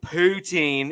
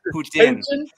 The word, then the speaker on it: poutine: That's well, no, we don't pronounce it poutine. It's Putin. Putin? Yeah. You have to sound like you're French.